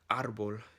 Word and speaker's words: árbol: For example, árbol in Spanish would be like the stress is at the front of the word.